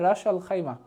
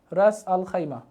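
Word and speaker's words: Ras Al Khaimah: এটা শুধুমাত্র আমি খাইমা লিখে দিলাম, এটা উচ্চারণটা হবে রাস আল খাইমা, রাস আল খাইমা।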